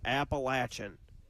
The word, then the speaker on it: Appalachian: It is Appalachin.